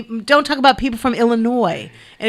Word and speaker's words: Illinois: people from illinois and if you say the s on there i'm going to correct you yeah i corrected people at concerts thank you for having me now boo it's illinois look this is silent what what does that